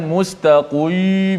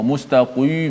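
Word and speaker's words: مستقيم: Muzakki dalam surah Fatiha selalu kita baca mustaqim gitu saja jangan must akui mau mustaqim onok Batak boleh semuanya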